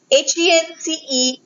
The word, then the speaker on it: henceforth: The fourth word is henceforth, H-E-N-C-E-F-O-R-T-H, pronounced as henceforth.